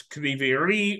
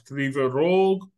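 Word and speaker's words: Кривий Ріг: the Ukrainian, and then they listen and it's Krivy Rih or it's Krivy Rog, and they do not understand how or why.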